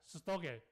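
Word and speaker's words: στοργή: 我发音的不是用英文，我是用希腊文在发音的不然说你会英文的时候，不是你的英文发音好像错了是用英文来表达但是其实它是 storge，是这个父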